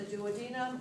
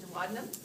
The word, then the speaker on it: duodenum: This C-shaped structure is about 10 to 11 inches long, almost a foot, and it's identified as the duodenum, or as I pronounce it, duodenum. You can use either pronunciation.